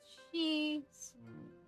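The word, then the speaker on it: 四: And on the search for ghosts, number 4 is pronounced she.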